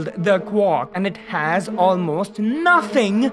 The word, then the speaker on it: quark: makes more literal sense but then it wouldn't rhyme with Mark bark and mark again but anyway the word quark comes from a slavic